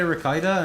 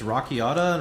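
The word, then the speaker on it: Rakiata: Cuz I used to say Rakita and then people told me it's Rockiata and Rockiata just sounds weird.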